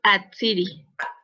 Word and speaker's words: Atsiri: A ver, Atsiri, o se pronuncia así, o Hatsiri. Atsiri. Hola, ¿me escuchan? Sí, Atsiri. Ah, sí, es Atsiri. Sí, gracias.